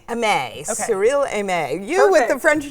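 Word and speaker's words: Cyrille Aimée: And I think I'm going to say her name wrong. Cyrille Aimee? Aimee. Okay. Cyrille Aimee.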